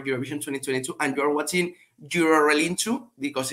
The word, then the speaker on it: Eurorelinchu: Eurorelinchu. Eurorelinchu. That's right. But I want to say it properly though. Can you say it one more time? I'm going to write it down. Yeah. Eurorelinchu.